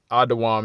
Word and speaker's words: Edom: the descendants of Esau adaam is how you say Edom in the lwang kadash okay uh verse 31